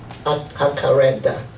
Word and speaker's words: Jacaranda: 一个 H 的音，所以 Jacaranda。